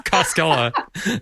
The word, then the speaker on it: Koskella: It rhymes with your name. I know. It's Costella.